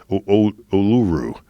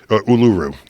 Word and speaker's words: Uluru: help me I get I get my correct pronunciation of this uluru and it said it's I'm told it's one